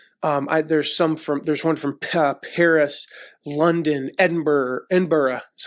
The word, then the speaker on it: Edinburgh: There's one from Paris, London, Edinburgh is how they pronounce it, Dublin.